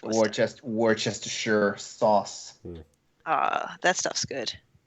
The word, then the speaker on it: Worcester: Looks like Worcester, but it's Worcester.